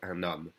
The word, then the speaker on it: un homme: So the un, usually you don't hear the N, but if it's followed by a vowel sound, and the H is silent, it's followed by a vowel sound, we connect the N to the O.